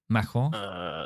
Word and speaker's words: Macron: Did you like that little pronunciation there? Was that correct? Macron.